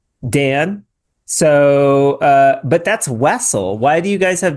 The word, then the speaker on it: Wessel: So, it's Wessle. Yeah. Yeah. I am a Wessle. This is my last name. Uh I've been called Wessle. Weasel. Russell. But Wessle works.